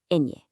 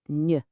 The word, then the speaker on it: ñ: It's called ñ. That little swiggle on top changes everything. It sounds like ñ, like in the middle of canyon.